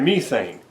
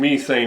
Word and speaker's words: methane: And he said, and this is how British people pronounce it. He said methane. He kept saying methane over and over again. This is too much methane and the effects of methane. And I'm like, we of course we pronounce it methane, right? And then I'm like, would you say that a person is addicted to crystal meth?